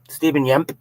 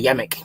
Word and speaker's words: Stephen Yemp: Stephen Yemp. Now I know I used to say Yemic, but now I know how to say it.